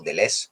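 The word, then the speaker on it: Deleuze: de leuce y Fénix o the less como dicen los que pronuncian bien el francés mil mesetas tiene un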